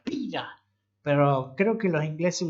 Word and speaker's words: Pyra: Yo le digo Pira porque es el nombre, así se pronuncia, Pira. Pero creo que los ingleses le pronunciarían Pyra.